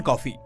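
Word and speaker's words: Coffey: कहती है जॉन नहीं जॉन कॉफी वही पीने वाली कॉफी बस स्पेलिंग अलग है इसके बाद वो उससे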